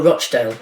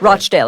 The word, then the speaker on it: Rochdale: a former labor MP for I hope I'm pronouncing this right rdale am I getting that right oh rdale Rochdale excuse me Simon danuk Okay one of the